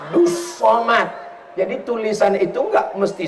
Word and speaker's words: Abdul Somad: Kalau ini Abdus Somad. Tulisannya Abdul Somad tapi cara bacanya Abdus. Abdus Somad.